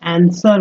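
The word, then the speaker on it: answer: आंसर में जो है आंसर में डब्लू जो है यह साइलेंट हो जाता है आंसर फर द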